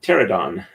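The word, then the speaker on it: Pteranodon: time to realize that was like pterodon silent p as in pterodactyl excuse me all right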